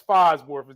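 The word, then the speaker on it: Falsworth: that is still in the show is Miss phosworth that's how you pronounce her name uh Miss Sonia she's the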